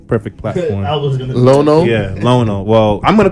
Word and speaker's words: Lionel: But, I'll tell you just 'cause gonna we- say his name wrong? We've been calling him Lionel all these years.